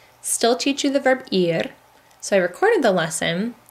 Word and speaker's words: ir: bit looks like her it's not pronounces are its ear verb ear so here is